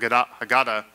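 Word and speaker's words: Haggadah: show up to the Seder gets the hag hagata or some people say hagada hag hagada is how it's us usually pronounced this hagata is the traditional book that's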